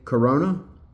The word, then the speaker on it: Corona: And even though Daniel Warren Johnson is off of the art duties, Jorge Corona, I want to say that's pronounced like the beer, has been a very suitable replacement for Daniel Warren Johnson.